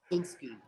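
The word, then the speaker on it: Beksiński: Tough one to pronounce. And yeah. It's Beksinski.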